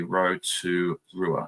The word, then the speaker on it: Rotorua: Rotorua is said pretty much how it's spelled, not fancy, basically phonetically. Rotorua.